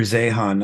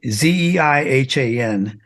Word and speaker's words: Zeihan: His name is Peter Zehan. I don't know if you've ever heard of him. I have heard of him, and Zeihan. okay, I think he's pronounced Zane actually, but he's nailed it.